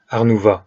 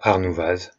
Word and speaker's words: Arnouvaz: Dans les Alpes, les X et Z ne se prononcent pas. Après recherche sur le net, on prononce donc Arnouva et pas Arnouvaz, Champé et pas Champex, et bien entendu Chamonix et pas Chamonix.